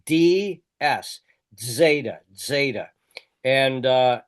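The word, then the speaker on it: ζήτα: You'll pronounce it like a DZ almost or D S.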